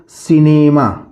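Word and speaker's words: cinema: इसी तरह लिखा हुआ है दोस्तों सिनेमा। सिनेमा। सिनेमा मीन्स चलचित्र, मूवी। तो सी के बाद ई आया है, इसलिए हम इसको केनीमा नहीं पढ़ेंगे, इसको हम पढ़ेंगे सिनेमा।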